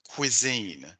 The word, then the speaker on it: cuisine: Pronunciation, slight pronunciation issue with the word cuisine. Cuisine. You said, Cuisine. I think, I say cuisine. cuisine. Hmm. Cuisine? Yeah, it's cuisine.